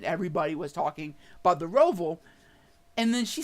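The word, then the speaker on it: Roval: you do not know how to say the rovol it's a charlotte by the way guys they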